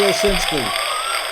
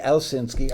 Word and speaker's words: Owsinski: business advice book by Bobby Osinski commonly mispronounced Bobby else in ski I was googling you